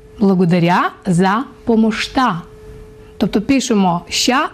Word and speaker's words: помощта: Благодаря за помощта. Бачите, як красиво. Благодаря за помощта. До речі, ось ця буква «ща» в болгарській мові вимовляється як «шт». Благодаря за помощта.